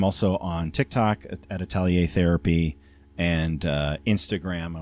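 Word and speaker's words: atelier: So u my therapy practice is called Italier.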